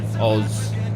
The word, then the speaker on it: Oz: oz just oh so the best way to probably um explain how to say it is just go oh zed oz why no chocolate